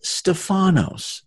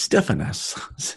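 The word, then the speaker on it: στέφανος: crown this is interesting this is Stefano's Stefano's let's listen Strong's G 4735 Stefan us Stefan us ok st. Rick you are corrected it's Stefan us ok I love it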